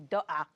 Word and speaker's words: dukkah: See, I can pronounce in it wrong. Arabic, actually, in Arabic it would be dukkah. But that's kind of hard to say, so we say dukkah.